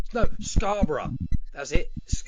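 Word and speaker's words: Scarborough: So it was so it was Scarboro. Hey, come to Scar Bro. I'm like no. Scarra Scar. They they can't say bur.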